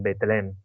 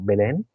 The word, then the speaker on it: Belén: Entonces nos acordamos que ellos se encontraban en betleem porque todo todo pasó en en Belén no sé cómo se dice en castellano Belén Belén Belén Belén ah Belén se encontraban en